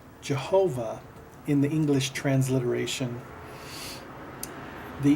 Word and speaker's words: Jehovah: the case of Jehovah the yode transliteration is being pronounced as a j character J okay and uh